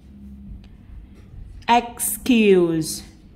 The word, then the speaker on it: excuse: Excuse, between, cathedral. Lặp lại nào. Excuse thì E này được phát âm là Y ngắn.